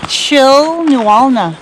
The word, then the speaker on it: Chilnualna: Chilnualna Falls.